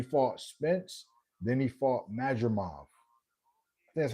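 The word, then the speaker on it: Madrimov: So he fought Spence then he fought Majimov.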